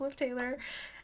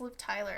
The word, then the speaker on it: Liv Tyler: Can't really explain why, I just love Liv Taylor. And, Okay. what's it called? Or Tyler, I think I just pronounced it wrong. It's Liv Tyler, I think.